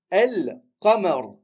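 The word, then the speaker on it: القمر: Il faut savoir que la lune, en arabe, ça se dit el-qamar. El-qamar. La lune. On prononce le lem, on dit el-qamar.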